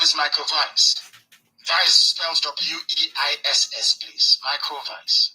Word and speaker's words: Weiss: Weiss spells W-E-I-S-S, please. Michael Weiss. That's how you pronounce it, because in German, in Germanic language, W is pronounced as V, like it's Volkswagen.